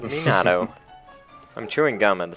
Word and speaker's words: Minato: __ ] thing well you're saying Mado I said Minato I'm chewing gum at